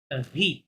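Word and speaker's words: riz: রাইসকে ফরাসিতে বলা হয় ভি, Z silent, হ্যাঁ, জাস্ট বলে ভি মানে রাইস।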